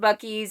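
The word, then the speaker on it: Buc-ee's: know what bucky's is look it up b-u-c dash e-e-s that's how it's spelled it's huge so by the time we stopped at bucky's and then i had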